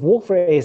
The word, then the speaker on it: Wolf-Rayet: I'm not saying the T. I was shaking my head at something else. It was totally right. Unrelated and 100% coincidental totally buying that. To your pronunciation of Wolf-Rayet.